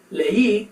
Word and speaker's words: leí: So, leí is two syllables, but if I didn't have that accent mark, it'd be ley, which sounds a little bit different.